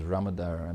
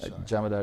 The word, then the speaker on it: Jamadar: particular judge I believe the name is ramadara who has said that um I apologize for getting the name wrong jamadar is the correct name he alluded to the